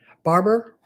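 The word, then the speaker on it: Barbour: their last name now um oh my gosh Barber it's b a r b o Ur and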